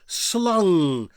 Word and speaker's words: slang: So slang would be pronounced in Dutch as slung.